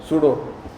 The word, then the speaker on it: pseudo: Spelling होती है ये स्यूडो। सुन के अजीब लगता है ना, सूडो।